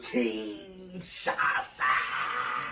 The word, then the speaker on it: Kinshasa: Kinshasa.